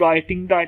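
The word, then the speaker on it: writing: उसके बाद राइटिंग में डब्ल्यू भी यहाँ पर देखें ये भी साइलेंट ही हो रहा है, ठीक है। इसकी डब्ल्यू की आवाज़ नहीं आएगी, ये आर से ही शुरू होगा।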